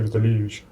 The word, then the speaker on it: Витальевич: Поэтому вместо того, чтобы написать Виталь, через мягкий знак написали И. Ну, женщина, которая работала, была просто... И вы все это время называете Витальевич Да, себя? именно с ударением, чтобы люди понимали, что там именно И.